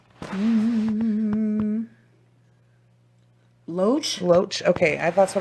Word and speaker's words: Loesch: sad Gary you say his last name mm-hmm loach loach okay I thought what I was gonna